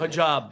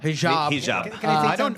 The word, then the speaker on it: hijab: afraid to wear their um how do you pronounce it? Hijab. Hijab on the subway.